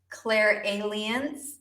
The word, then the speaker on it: clairalience: to be talking about Claire aliens and yes apparently that is how you say it or some people say